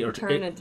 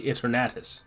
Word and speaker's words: Eternatus: That's how it's pronounced. You say Eternatus. You say Eternatus.